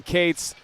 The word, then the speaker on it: Cates: over to ben cates yes it is ben cates thank you to the cates family for correcting us and letting us know the correct pronunciation as that one is